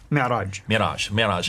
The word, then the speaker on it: Mi'raj: Mi'raj.